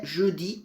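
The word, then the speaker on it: jeudi: Bom, aqui por algum motivo ele não conseguiu pegar a minha voz do Jodi, da cor, mas a pronúncia aqui é Judi, tá certinho?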